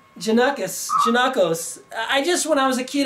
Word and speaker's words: Janakos: So it's all up to you by Janakos? Yes. Janakos. Janakos. But that's an O at the end. How can you say What's the O? Janakos.